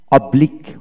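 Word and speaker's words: oblique: চ্যাকের বানানটা হচ্ছে সি এইচ ই সি K cheque cheque. এখন আসুন অব্লিক অব্লিক, ও ইউ বি এল এ কে অব্লিক অব্লিক, এখানে ইউ ই উচ্চারিত হলো না।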